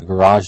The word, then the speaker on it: garage: There is an alternative pronunciation, a garage. It can be pronounced either way. For those who are interested in the history of the language, we have borrowed a lot of words from French, such as garage. Of course, that's the French spelling. And then it becomes anglicized with a stress on the first part of the word. So we get garage.